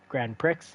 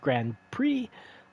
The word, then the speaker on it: Grand Prix: And I it's not Grand Pricks, it's pronounced Grand Prix as it's a French word.